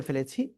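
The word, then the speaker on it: ف: এইযে দেখেন নিচের ঠের পেট উপরের দুই দাঁতের আগায় লাগাবেন লাগিয়ে হালকা বাতাস বের করে এক আলিফটা নিয়ে উচ্চারণ করতে হবে কয় আলিফ এক আলিফ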